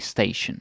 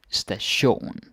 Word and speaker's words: station: Billet station like so pronunciation wise do pay attention so you don't say station like like station no no stay shown I think I said